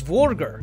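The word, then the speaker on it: dvergr: has Nordic Roots as the old Norse word for dwarf is vorer with a silent D at the front but the root could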